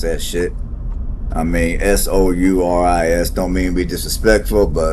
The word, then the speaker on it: Souris River: Souris, I can't pronounce that shit. I mean, Souris, don't mean to be disrespectful, but forgive me, I can't pronounce it.